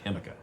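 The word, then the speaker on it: jícama: My friends, it is a South American crop, South American tuber called Chemica, or Chemica, because the J sounds like an H, Chemica.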